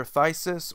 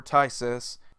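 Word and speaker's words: Phthisis: one of two ways it's actually pronounced either a thesis or Tice's basically the word is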